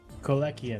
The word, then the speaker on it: Kolechian: How do you say it again? Kolechian. Kolechian, thank you.